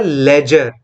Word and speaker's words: ledger: the entry in a ledger. What term I used? Ledger. LEDGER. D is silent here.